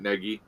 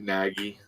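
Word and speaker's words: Nagy: a couple years Matt Negi oh sure wow they always they mispronounce his name and call him Matt naggie right we always yell at the TV that's not how you say it you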